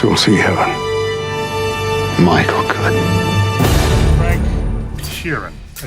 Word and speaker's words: Frank Sheeran: none of us will see Heaven Michael could Frank Sheeran I saying that right yeah you said it